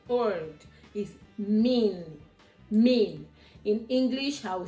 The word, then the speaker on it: min: That is the N word is mean. Mean in English I will spell it m i n.